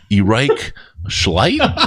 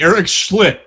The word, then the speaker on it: Eric Schlitt: Erich Schleit? Is that it? Is it Erich Schleit? I'm not sure. How do you say his name? Can you read that? That would be Eric Schlitt.